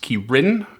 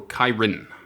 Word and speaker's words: ki-rin: Um according to the Forgotten Realms Wiki, it's pronounced Kirin or Kyren with the emphasis on the second syllable.